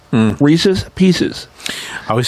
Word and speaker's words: Reese's: I think it's Reese's because that's the way I've always heard it, and only because it rhymed with pieces. Reese's Pieces.